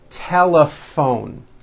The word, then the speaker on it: telephone: that word laugh telephone notice the ph combination in that word is also pronounced as an f telephone it's the same thing